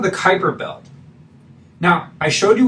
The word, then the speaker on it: Kuiper: that looks like the quiper belt but it's actually it's pronounced like like Viper the word Viper it's Kuiper comes with the Kuiper